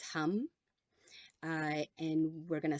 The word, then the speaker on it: ham: chakra is spelled ham it's not pronounced ham it's hum uh and we're gonna